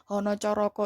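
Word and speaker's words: Hanacaraka: Nah, kalian kan kemarin Hono Coroko itu cuma O semua ya. Hana Caraka, Data Sawala, pada Jayanya, Maga Batanga. Bacanya Hono Coroko, Toto Sawolo, Podo Joyonya, Mogo Potongo.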